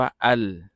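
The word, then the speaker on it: ال: ตัว ลาม นะ ครับ อะลิฟ ลาม เนี่ย เมื่อ เรา เจอ ด้วย กัน คู่ กัน น่ะ มัก จะ อ่าน ว่า อัล นะ ครับ อัล นะ อะลิฟ ลาม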